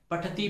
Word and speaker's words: पठतः: बहुत गलती करते हैं, पठति, पठता, पठंती। अब इस पठति, पठतः, पठंती को पठति, पठत, पठंती कर देते हैं। पठसी, पठत, पठत, पठामी, पठाओ, पठाओ। अशुद्ध। हमें इसको विसर्ग का उच्चारण स्पष्ट रूप से करना चाहिए।